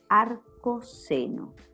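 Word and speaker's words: arcoseno: inversa que se llama arco seno y se escribe de esta manera se pronuncia arcos eno y se escribe arq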